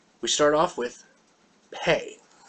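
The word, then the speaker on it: פ: Pay. With the dot, you got a straight P sound beginning of a word or a syllable. Remember, that dot only comes at the beginning of a word or a syllable. Without it, it's pronounced like an F.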